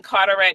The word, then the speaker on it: Carteret: 29 Washington Avenue in Carterette New Jersey how you spell that like Carter like the eye like carette c a r t